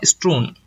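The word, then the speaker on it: strewn: Pronounce कैसे करेंगे? स्ट्रून।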